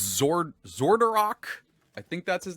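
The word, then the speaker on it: Xardorok: And this is oh god, I think it's Zordarok. I think that's his name. I have the pronunciation right here, which is probably what I should have done to begin with. Let's see. Keep up, Trevor. Zordarok.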